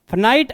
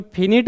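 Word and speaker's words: finite: है rational number are फाइनाइट and repeating decimal. ये जो रेशनल नंबर होता है और कोई फिनिट बोलता है कोई फाइनाइट बोलता है, तो इस प्रोनाउंसिएशन से कन्फ्यूजन नहीं होना है आपको।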